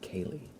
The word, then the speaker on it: Carli: Their name is spelled Carly, like Carli, but I think it's pronounced like Kaylee. So the R is kind of silent, which I would not have guessed.